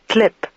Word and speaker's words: TLP: the file was actually his TLP file, which he pronounced clip.